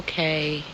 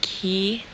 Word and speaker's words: Cay: and argument a lot we do know that Ciy is pronounced key however in Royal Caribbean's own song they do say perfect day at CoCo K good morning guys